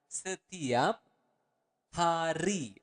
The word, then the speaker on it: setiap hari: Every day is setiap hari. Okay, let's repeat it again slower. Setiap hari. Again, you want to pronounce the word R clearly.